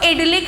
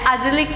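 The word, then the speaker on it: idyllic: जैसे फर्स्ट है अडलिक। इसको एडलिक नहीं पढ़ना है, अजलिक पढ़ना है, ठीक है। इसका प्रोनाउंसिएशन अडलिक होता है, लेकिन हम लोग क्या करेंगे, इसको इडली ही याद करेंगे, ठीक है।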